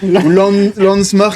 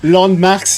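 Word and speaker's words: Landmvrks: "Landsmark" as I often say. "Landmarks" he never knows how to say it.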